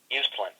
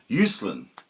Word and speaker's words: Uslan: way how do you pronounce his surname it's pronounced usan usan excellent yes okay so who is Michael usen